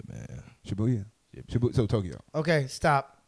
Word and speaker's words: Shibuya: Tokyo, Shibuya, Roppongi. Which one of them you like the best? I go with Shibuya, man. Shibuya?